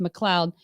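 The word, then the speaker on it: MacLeod: McLeod you know spelled like mccloyed but it's pronounced McLeod she's a Scottish Jew and um there's actually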